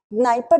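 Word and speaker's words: Dnieper: the easter river in the diaper river d seldom is silent okay naipa river so you see that it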